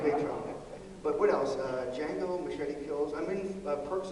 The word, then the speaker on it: Django: Jamie Foxx is Django. The D is silent, if you've seen the movie.